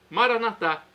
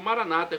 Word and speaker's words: Maranatá: E agora do aramaico, Maranatá, como dizemos nós católicos, ou Maranata, como dizem nossos irmãos separados, os evangélicos ou protestantes. Não importa a pronúncia, o significado é o mesmo.